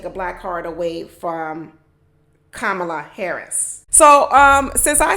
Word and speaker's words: Kamala: you really pronounce cela's name I know I'm pronouncing it wrong I know I am I know I am it's not camela it's not Camala it's not camela it's kamla kamla Harris so there you go it's kamla Kamala